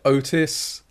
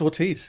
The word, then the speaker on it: Ortiz: really yeah it's it's i've had otis yeah it's it's just ortiz it's exactly how it's spelt yeah it doesn't it